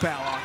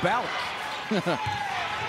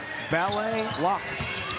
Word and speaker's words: Ballock: Fans in Omaha are saying no, not Ballock, it's Ballock.